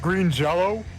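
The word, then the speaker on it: Green Jellÿ: numbnuts software creations and green jelly actually it's pronounced green jello no seriously that's what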